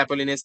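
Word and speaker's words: Apollonius: एक और चीज होगा जिसको बोलते हैं अपोलिनियस थ्योरम। अपोलिनियस बोलते हैं ना? हाँ, अपोलोनियस थ्योरम। ठीक है, अपोलिनियस, यार स्पेलिंग क्या है इसका?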